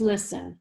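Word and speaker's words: Lyssin: when your dog is vaccinated for rabies use listen l-y-s-s-i-n and you can buy this in no-sews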